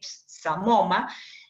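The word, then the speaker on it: psamoma: Esto es lo que se llaman cuerpos de samoma, se escribe con P, samoma, y que son muy característicos del carcinoma seroso papilar.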